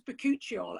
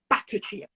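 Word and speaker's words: Bakuchiol: everything I in fact I said it was pecuccio and she pronounced it backachea oh I think that's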